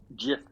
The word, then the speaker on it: GIF: doesn't do that and they're called GIF by the way thank you no it's it's a soft G I'm pretty sure no it was something